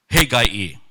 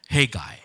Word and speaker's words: Haggai: His name is Haggai. At least that's how some folks pronounce. I pronounce it in my own local dialect, Haggai.